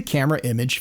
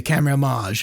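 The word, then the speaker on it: Camerimage: image Festival themselves and you'll hear people say camera homage it's the the pretentious way to say it and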